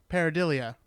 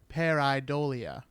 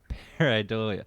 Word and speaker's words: pareidolia: spoke about shadow people right I referred to parody Leah pareidolia which is the tendency in humans to find patterns where none exists I remember except it's not because it's actually pronounced pareidolia pareidolia you know there's there's there's gotta be some